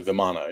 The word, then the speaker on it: Vimana: So much so that if you read the old text, they talk about the Viman, which is spelled Vimana, but it's pronounced Viman, which is basically the flying castles of the gods.